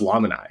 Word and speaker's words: Lamini: of my friends, and she was pronouncing it Lamini. And I was like, what is this? How do you say this? And then I got on a call with their team, and they're like, oh, it's pronounced Lamini.